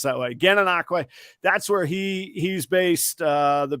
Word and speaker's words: Gananoque: Yeah, there's nothing in Florida pronounced that way. Gananoque, that's where he's based.